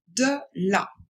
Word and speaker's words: de la: De la. Attention, de, il faut bien prononcer le E. E. Ce n'est pas est, ce n'est pas et, c'est bien E. Donc on dit de la.